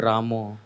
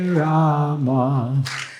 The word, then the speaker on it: Rama: Maharaj, the pronunciation of Rama, it is Rama, not Ramo.